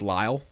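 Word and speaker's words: Lisle: Um, also apparently her name is pronounced Lyall.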